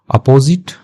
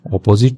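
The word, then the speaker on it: opposite: अपोजिट, इसको अपोजिट ऑपोजिट पढ़ते हैं, विपरीत होता है उसका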